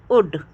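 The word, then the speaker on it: would: हम शुल्ड नहीं बोलते हम एल का प्रोनाउंस नहीं करते हैं क्योंकि एल साइलेंट हो जाता है तो हम क्या बोलते हैं कुड शुड उड ठीक है हम यही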